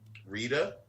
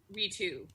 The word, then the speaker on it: Ritu: Spell it for me. Ritu, and then Arya, like Arya Stark. Rita. Ritu.